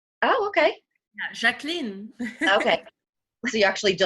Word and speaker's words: Jacqueline: Okay, so it's not Jacqueline. Okay. No, yeah. It's French. Oh, okay. Yeah, Jacqueline.